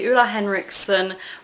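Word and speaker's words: Ole Henriksen: i picked up a repurchase this is the ula henriksen walnut complexion scrub yes that is how you pronounce his name um i love this which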